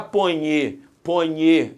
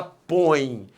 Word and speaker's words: põe: Você não fala ponhe a janta aqui, você fala põe. Você fala põe, a força tônica está no o O é a vogal, o E é a semivogal, o ditongo é decrescente.